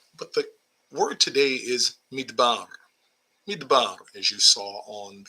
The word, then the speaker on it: מדבר: But the word today is midbar. Midbar, as you saw on the thumbnail, midbar. And it's spelled with mem, dalet, vet, and the letter resh.